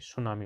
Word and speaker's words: tsunami: लेकिन सुनामी की spelling T से शुरू होती है, आप ये जरूर ध्यान रखें, TSUNAMI, सुनामी, उसको सुनामी कहेंगे।